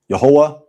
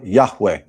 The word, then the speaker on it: Yahuah: And the word is Yahuah. Not Jehovah, Yahuah, or Yahuwah, or Yahweh.